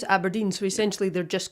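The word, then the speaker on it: abrdn: just called aberdeen yes a burden yeah you're supposed to pronounce aberdeen so essentially they're just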